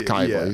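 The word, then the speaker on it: Cybele: It's spelled Sibeli, but it's Kybi.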